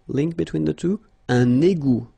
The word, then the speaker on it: égout: Un égout. Final T not pronounced.